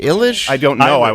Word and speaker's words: Eilish: By the way, is it pronounced eyelash? Because I've been confused for 2 years. Is it? Is it like It looks like stay confused. eyelash. Is it It does. Eilish? Illish?